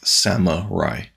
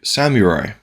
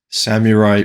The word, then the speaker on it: Samurai: that in just a second I have always pronounced Samurai as Samurai as in like Sama Rai as if it was spelled s-a-m-a-r-a-i but the correct pronunciation is surely Samurai and I've just never done that so let's